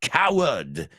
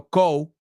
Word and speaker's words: coward: And then Jacques Legris, el gris, says, I am not a coward. No soy cobarde. Y lo pronuncio bien en inglés. Coward. No co. I've heard people say coward. No. Cow. Como vaca.